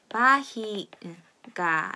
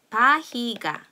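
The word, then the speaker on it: barriga: 그래서 예를 들면 바히가 라는 단어가 있는데요. 이것은 배, 그러니까는 사람의 배, 복부를 의미하는데요. 바히가 이렇게 발음이 됩니다. 그래서 R 두 개가 붙어 있으면 단어 앞뒤 상관없이 히읗 소리가 난다 하는 것 기억을 해주세요.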